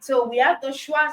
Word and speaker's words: schwa: And just to be clear, the schwa sound, it's spelled SCHWA.